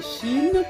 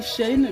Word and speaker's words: SHEIN: Pour cette planche, je l'ai acheté chez Shin ou Shine. Chacun prononce comme il veut.